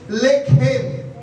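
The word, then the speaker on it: לחם: Original मूल भाषा में, लेखेम। आपकी प्रोनाउंसिएशन में बोला जा रहा है लेखेम। बोलेंगे लेखेम, बोलेंगे लेखेम।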